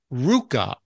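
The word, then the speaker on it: ruca: Here's one, Ruka, R-U-C-A. My Ruka.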